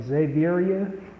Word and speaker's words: Xaviera: It's like Xavier, but a female. So Xaviera.